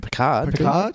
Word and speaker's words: Picard: not yet Richard Kevin Pritchard you don't mean Picard yeah I'm saying it wrong yeah next generation that's